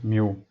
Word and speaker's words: mu: mu mu or move of the time we pronounce it as mu and this is pi this one is p